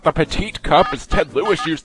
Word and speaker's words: Petit: out to that correction there's no e at the end so you don't pronounce last T but Cho will lead